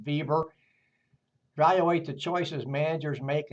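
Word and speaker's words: Weber: Compare the organization theories of Andre Fail and Max Vieber by the way we ber but it is pronounced Vieber.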